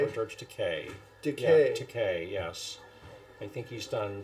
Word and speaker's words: Takei: Yeah, Takei, yes. I think he's done something online where he says it rhymes with gay.